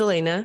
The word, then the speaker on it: Elena: I get a lot of pronunciations, but it is Elena, so I do appreciate it.